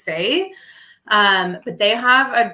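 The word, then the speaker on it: Saie: gonna mispronounce this um it's spelled s-a-i-e so I think it's say um but they have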